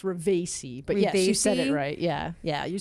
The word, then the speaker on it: Ravesi: It's Ravesi, but yes, you said it Ravesi?